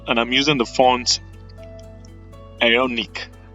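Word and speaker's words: Aeonik: 16 and bold and I'm using the font aonic it's spelled a e o n i k all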